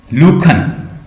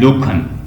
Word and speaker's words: Lacan: Jack लूखन, GACQUE, Jack LACAN, Jack लूखन इसकी pronunciation है।